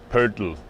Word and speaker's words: Poeltl: It's Poeltl. That's how you would say it in German.